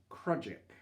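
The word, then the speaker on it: crossjack: just gansel or tagallant this sale which is the lowest sale on the mizen mast is pronounced krudjik and then this sale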